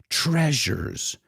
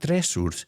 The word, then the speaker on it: treasures: to pronounce with me Treasures Treasures it's not thresholds the S sounds like Treasures Treasures as the